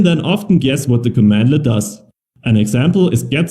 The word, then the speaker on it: cmdlet: bar by the way Powershell commands are called commandlets at least it's pronounced commandlet it is written cmdlet commandlets usually